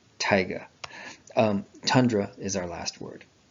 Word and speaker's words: Taiga: But I think Taiga is the proper pronunciation, like the rapper, Taiga.